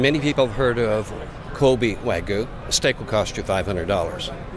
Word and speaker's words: wagyu: i can't pronounce it wag you wagyu so it's like a silent y in the middle yes it is what's uh what kind of is this waigu is a breed of